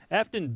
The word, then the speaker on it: Aftyn: Yes, Afton. I didn't go there because I didn't have any idea how to pronounce it.